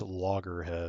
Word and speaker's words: Loggerhead: go in there but it's logger head like the turtle longer head Lo logger